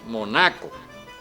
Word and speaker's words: Mónaco: Hoy día es recordado simplemente por Don Mónaco o Don Monaco, con acento en la A.